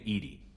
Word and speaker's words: EDI: airlock is a jar why are you named Edie Ed is the phonetic pronunciation of e that is an acronym for